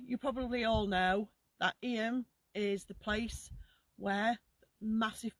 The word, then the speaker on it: Eyam: from where we're from we call it IEM it's spelled e y a m so you probably all know that IEM is the place where